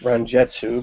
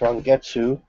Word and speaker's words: Rongetsu: true uh this is rongetsu which i've for many years pronounced ranjetsu but it's wrong getsu uh let's get you the number on that one that's number 52 number 52.